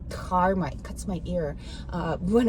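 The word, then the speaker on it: धर्म: I noticed a lot of a specialist here in US I'm meeting, they don't pronounce H, they say dharma, where it's supposed to be dharma.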